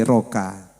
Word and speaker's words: RCKA: Jadi tulisannya RC KA RCK teman dibacanya itu broken o jadi rokoka.